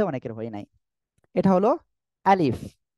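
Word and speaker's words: ألف: নাই এটা হলো আলিফ এই অক্ষরটি আমরা যখন উচ্চারণ করব কিভাবে উচ্চারণ করব জানেন প্রথমে আ একটু ধাক্কা হবে আ তারপরে লি তারপরে শেষে বাংলায় যে ফ আছে ফ এর মতো তবে আমাদের মনে রাখতে হবে জিহ্বার জিহ্বা না নিচের ঠোঁটের পেট এই যে নিচের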